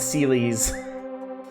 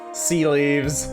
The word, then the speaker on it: Celes: I think when I was a kid, I said Celes. Kind of like the mattress. Genetically engineered super soldier, yep. Sea leaves.